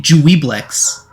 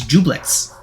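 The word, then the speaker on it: Juiblex: I've been pronouncing it Dweeblex. I've been pronouncing it like phonetically, but apparently it's Jublex.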